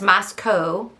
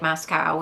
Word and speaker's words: Moscow: And it's Moscow, rhymes with Idaho, not like Moscow, which I think I said.